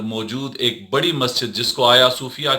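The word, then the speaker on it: Hagia Sophia: एक बड़ी मस्जिद जिसको आया सूफिया के नाम से आप जानते हैं अगर आप इसको अंग्रेजी में देखेंगे तो यह आयल दाल सोफिया के नाम से आप पढेंगे जी साइलेंट रहता है आया सूफिया के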